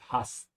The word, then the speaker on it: hast: Yeah, be careful again with the A. English speakers have challenge pronouncing the German A, which is honestly the standard A, similar to French and many other languages, hast.